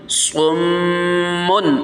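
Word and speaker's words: صُمٌّ: صم بکم صم. ہجے سن لیں. صاد میم پیش صم میم دو پیش من صمن. اس کو پہلے من پڑھیں گے، جب حرف با پڑھ لیں گے یہاں پر اس کے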